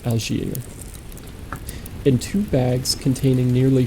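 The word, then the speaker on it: d'Alger: three smaller of metal dal, sorry, I think the D is silent. Alier and two bags containing nearly 4,000 francs and gold.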